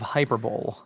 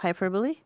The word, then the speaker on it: hyperbole: It is the epidome of hyperbowl. Is it's the epitome of hyperbole.